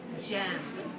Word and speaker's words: gem: And this is a new sound that we don't usually think G makes, but we're going to learn new words that have the soft G sound, like the word gem.